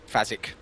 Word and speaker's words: Fazik: It's like Phase, but Phase K. Fazik.